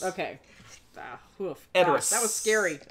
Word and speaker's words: Edoras: Correct answer is, of course, Edoras. Okay. Edoras. That was scary. Or Edoras, if you want to be all fancy. Edoras. That's how they say it in the movies.